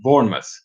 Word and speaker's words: Bournemouth: saying that that is right okay so it's Bournemouth alright now I know and then they say